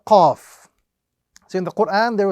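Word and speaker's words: ق: So the correct pronunciation of this example is Qaf. We recite it as an individual letter and we apply the rule of prolongation. Qaf.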